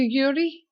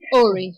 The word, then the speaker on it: Uri: can I call you Yuri of course my my the actual pronunciation of my name is URI URI URI um is a Hebrew name it's actually an ancient name and it means my